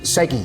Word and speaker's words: SEGI: Check out, did I say it right, Segi or CG? Segi.